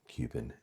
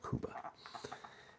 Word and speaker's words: Cuba: if you would, of Cuban seed tobacos. So, we're going to look at the aroma deuba. And I usually say Cuba, but I think uh, the proper way to say it is Kuba.